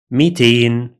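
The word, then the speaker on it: ميتين: In some dialects, this hamza is converted to ya sound, like this, mitain, mitain, mitain.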